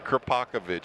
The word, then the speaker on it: Kravakovic: Kravakovic. You got to get that first syllable with the kra. I always want to put the P first, and that gets me in trouble every time.